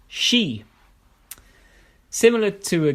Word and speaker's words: Ski: Exception I know of is she meaning ski but is pronounced she similar to a g